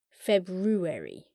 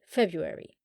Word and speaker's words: February: there's a downside to February for me too it's flipping odd spelling and pronunciation it's pronounced weird because many people don't sound out the first R February some people do and